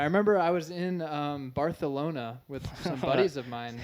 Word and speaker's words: Barcelona: Dude, I remember I was in um Baralona with some buddies of mine. You're talking about Okay. What? Bartholona. That's how you pronounce it.